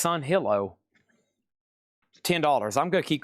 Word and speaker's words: Sunhillow: I I think I've been calling this Oasis of Sunwillow for years. It's o Oh, how do you say that? Oalas Oolas of Sunwillow. It's Sunhillow.